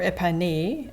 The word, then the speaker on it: épergne: And the épergne, or épané, as you might pronounce it in French, I did see this the last visit, and I just love the aqua touches.